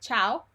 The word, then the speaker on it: ciao: Okay, we saw first of all the word ciao, and we found out that cha, and chu are always pronounced ch. Okay, and the I is not pronounced ever. We saw the word cameriere